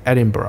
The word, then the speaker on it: Edinburgh: ，后面两个音节是发音有点像 B-O-R-O 这样的 Edinburgh、嗯、但最后一个音是清掉了啊、就是嗯。